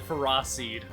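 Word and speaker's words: Ferroseed: real interesting to say he straight up just said fera seed by the way that is the official pronunciation ferocid forget about it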